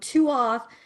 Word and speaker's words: tuath: And Tuath is pronounced Tua, and it means tribe or family, which she wanted me to pass on as well.